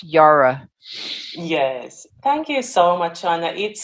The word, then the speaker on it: Jara: welcome to the show Tina Yara is it Yara or Zara Hara Hara Hara Yara Yara Yara why okay why Yara spell chay-ara people but pronounced Yara yes thank you so much on it's it's a